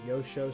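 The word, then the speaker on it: Joscho: jazz guitar player named Yosho Stefan. His name is spelled with a J, his first name, and it's spelled like Josh Cho.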